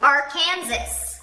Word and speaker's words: Arkansas: So it's 3 syllables. Arkansas. Or is it Arkansas?